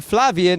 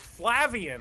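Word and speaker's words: Flavien: Half the people call him Flavian and every half the people call him Flavian. And he told me neither is right. It's Flavian. That's what he told me. It's Flavian Flav.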